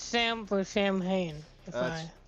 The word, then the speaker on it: Samhain: I think it's Sam for Sam Hain. If It's technically pronounced Samhain, but yeah, that Sam is.